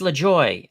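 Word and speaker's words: Lajoie: know who they're talking about cardinas cardinas nap lejoy it's lejoy I've heard it it's lejoy I'm telling you it's lejoy I've heard it Clinton's not always right right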